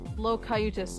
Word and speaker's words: Locutus: Locutus. Oh! Jesus, I've been pronouncing your name entirely fucking wrong since forever.